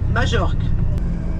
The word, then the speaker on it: Majorque: Mais que je crois que je suis à peu près bien la seule à le prononcer comme il faut, donc c'est pas grave. Hein. Majorque.